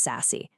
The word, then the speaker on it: SASE: And yes, it's pronounced sassy.